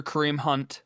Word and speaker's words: Kareem Hunt: Kareem Hunt, which you have to be careful when you say his name to not flip the the K and the H.